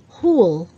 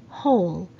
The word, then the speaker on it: whole: number three whole a lot of filipinos say hool but the right pronunciation is whole just like when you take out w whole